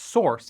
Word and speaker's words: src: src pronounced source is a common name for the folder that holds uncompiled code in a project.